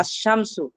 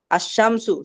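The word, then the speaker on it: الشمس: আশ-শামসু, আশ-শামসু, শিন কি উচ্চারণ, আলিফ লাম কি উচ্চারণ হয়?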